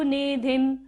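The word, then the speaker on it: निधिं: कोवा तरीतु कोवा तरीतु मलमंबु मलमंबु निधिम निधिम। ध के ऊपर बिंदु है और बाद में क्या है, भ, तो यहाँ पर हम बिंदी का उच्चारण म करेंगे।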